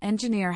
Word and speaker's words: engineer: For example, engineer has stress on the last syllable, nginer.